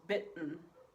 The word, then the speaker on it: bitten: In English, we usually don't pronounce double T's like t. Yeah, I know that's weird, but the way we usually say this is bitten.